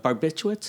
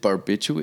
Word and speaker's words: barbiturates: how you say it is it uh barbiturates barbiturates yeah i said barbitura yeah that's something i